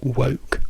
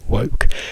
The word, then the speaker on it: woke: you don't say wok you don't say walk I don't know how you said it well in Italian but all the words I've heard are all wrong because I understand so many other things except what you want to say which precisely it is woke woke let's now go and